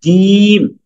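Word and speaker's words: جيم: জিমে ভর্তি হই না ওই যে জিম এই জিম বর্গীয় জীম জিম জিম বললে হবে না এই যে কে যেন বলেছেন জি না জি জামালপুর জাম তো এই বর্গীয় জ এর জিম জি জিম জিম জিম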